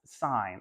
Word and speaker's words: sine: sign spelled that way it looks like sin oh no it's it's it's pronounced sign and I thought that